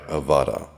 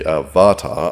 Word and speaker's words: Avata: Because I'm from Canada, and we have a healthy disregard for pronouncing the letter T correctly, this is the DJI Avata. Some people say Avata, others Avata, but they're just plain weird and, well, we're moving on.